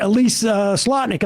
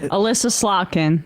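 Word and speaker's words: Elissa Slotkin: Now, someone should get Elise Slotnick on the phone and did I say her name? Alyssa Slotkin.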